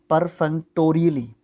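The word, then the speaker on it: perfunctorily: पर फंग परफंग परफंक्ट्रीली, परफंक्ट्रीली, ठीक है, परफंक्टोरियली, ये सही है, परफंक्टोरियली, है ना।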